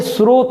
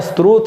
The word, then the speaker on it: स्रोत: मिला हुआ है ज्ञान, तो ये स्रोत होता है, स्त्रोत नहीं होता है। तो आपको उच्चारण से भी समझ में आ जाएगा।